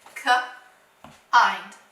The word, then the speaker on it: kind: All right, what have we learned about I-N-D? That's right, it's going to say IND, IND, okay? Even though it's a closed syllable.